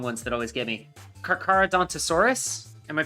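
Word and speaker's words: Carcharodontosaurus: the really long ones that always get me karadant asaurus am I pronouncing that right uh zoom in on it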